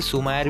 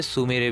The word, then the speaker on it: Sumire: अब आप सभी लोगों को पता ही होगा, सुमेरे के नाम के जो है हमें दो प्रोनाउंसिएशन बताए गए हैं। कुछ लोग जो है उसे सुमायर भी बोलते हैं और कुछ लोग जो है उसे सुमेरे भी बोलते हैं।